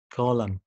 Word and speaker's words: column: لو نقيت الكلمه بتاعتك if you find this word ends with mn الكلمه بتنتهي ب mn ما تنطقش حرف ال N زي autumn, column, dam, okay؟ طيب حرف ال P, ال P, okay؟